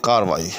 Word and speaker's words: کارروائی: انہوں نے اس کے خلاف کارروائی کی۔ اس کے خلاف کارروائی نہیں ہونی چاہیے،